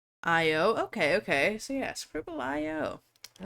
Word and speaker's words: Scribble.io: Also, I've heard people call it Scriblio, and I've heard people call it Scribble IO. I don't know. How do you guys pronounce it? I pronounce it Scribble IO.